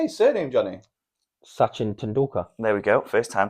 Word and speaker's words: Tendulkar: Sachin Tendulkar.